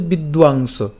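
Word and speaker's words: বিদ্বাংস: কিন্তু অন্তস্তব যেটি তার উচ্চারণটা আমরা করবো কার মত? উর মত। খেয়াল রাখতে হবে। তাইলে উচ্চারণটা কেমন হচ্ছে? বিদোয়াংশ।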